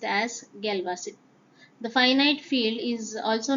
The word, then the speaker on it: Galois: Galois is pronounced as Galois.